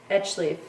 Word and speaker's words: High Life: Bought however from High Life, pronounced Edgeleaf, New Mexico.